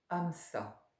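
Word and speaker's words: Hamsa: Ce soir, Amsa. Am tout au long de l'inspire, Sa tout au long de l'expire. Sur Am, faites traîner intérieurement le M et sur Sa, faites traîner intérieurement le A.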